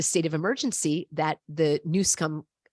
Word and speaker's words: Newsom: Number two, when there is all of the emergencies, like the state of emergency that the Newsom called for, yes, that's how you pronounce it, in California, now he instantly gets all of this federal aid.